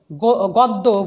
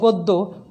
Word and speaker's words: গদ্য: সাথে একটা অ আছে, এই অয়ের পরে যখন জফালা থাকবে তখন আদ্য অয়ের উচ্চারণ ওয়ের মতো হবে। যেমন অদ্য অদ্য, গদ্য গদ্য, পদ্য পদ্য, সদ্য সদ্য,